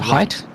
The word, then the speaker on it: Height: So now Matthews under pressure from height, which I've been told in chat is the correct way to pronounce it. Height. You pronounce it height.